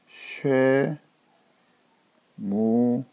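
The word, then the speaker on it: שמואל: 자 그리고 세 번째 단어는 최무 이렇게 있습니다 쉐 무엘 자 사람 이름인데요 자 누구 같아요 제 그렇습니다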